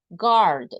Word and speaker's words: guard: And here in the pronunciation is guard. We don't pronounce the U.